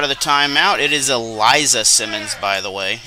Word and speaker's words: Elicia: the timeout it is Eliza Simmons by the way it's spelled Elicia but it is Eliza and that did not